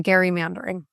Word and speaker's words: gerrymandering: So, we should really be calling in Gary Mandering.